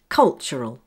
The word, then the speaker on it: cultural: Cultural. Where's the stress? The first syllable. The AL spelling at the end of a word will always be weak and sound like this. L. L. Cultural.